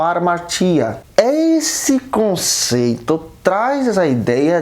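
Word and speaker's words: ἁμαρτία: Romanos 5,12, nós sabemos que o pecado ele é derivado de uma palavra grega pronunciada como armatia.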